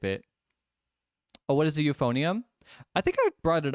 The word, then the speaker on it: euphonium: Oh, what is a euphonium? I think I brought it up on live one time. It's actually spelled with an E, so it's like EU, right?